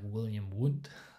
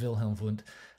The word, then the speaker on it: Wilhelm Wundt: And Wilhelm Wundt is the guy, and by the way, in German, W's are pronounced V's, and V's are pronounced W's. So Wilhelm Wundt is like William Wundt, is what it looks like, but it's Wilhelm Wundt.